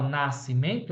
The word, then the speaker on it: Nascimento: ou não ser ó na palavra Nascimento eu não cons eu não escuto o som do S dígrafo na palavra casca